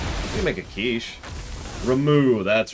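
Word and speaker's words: Ramuh: Yeah, Rama, or however they... I've already forgotten how they pronounce it.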